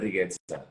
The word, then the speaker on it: Riguezza: ¿Lo pronuncié bien? ¿Es Rigueza o Rigueza? Sí, Rigueza.